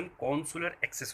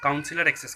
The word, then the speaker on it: consular access: तो देखिए, कॉन्सुलर एक्सेस, इसका प्रॉपर प्रोनाउंसिएशन कॉन्सुलर एक्सेस होता है। बहुत से आदमी इसको काउंसिलर एक्सेस कहते हैं, जो कि गलत है।